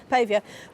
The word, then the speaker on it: Pavia: Is it Pavia? Pavier. How do you say your name, sir? Pavia.